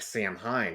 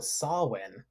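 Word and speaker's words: Samhain: going to say is that Solen how it's pronounced actually looks like Sam Hein right yeah I remember the first time I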